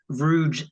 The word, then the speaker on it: Vruge: Vruge. Vruge is how you say it. Think Scrooge, but with a V.